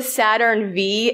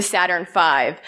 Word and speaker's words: Saturn V: a raffle downstairs and it's not the Saturn V it's the Saturn 5 so if there's one